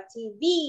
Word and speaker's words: TV: Okay, giọng âm của mình nó sẽ rơi vào âm thứ hai nên mình sẽ đọc là TV.